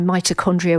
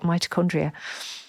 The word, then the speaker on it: mitochondria: I know but just using the word who was I to use a word like mitochondria and of course it rhymes with hypochondria which you're feeling as a oh for goodness sake I'd never even clicked that together.